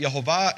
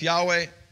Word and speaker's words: Yehovah: Again, I've said, based on the earliest Hebrew manuscripts, I pronounce it Yehovah. If you want to replace that with Yahweh, knock yourselves out.